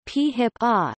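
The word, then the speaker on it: PHIPA: its acronym PhIP a typically pronounced p HIPAA established in 2004 outlines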